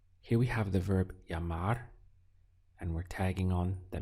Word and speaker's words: llamar: Llamar. Here we have the double L, which is always pronounced as a Y in Spanish. So we have this sound of ya and then mar. Llamar is to call.